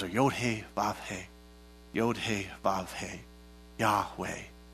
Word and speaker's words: Yahweh: that if you pronounce yahweh it's the yo it's the letters are you hey yod hey yahweh they said the name of god actually sounds like breath so when you breathe